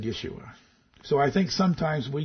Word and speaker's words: Yeshua: hebrew i am yeshua in greek it's jesus but he was speaking hebrew so he said yeshua so i think sometimes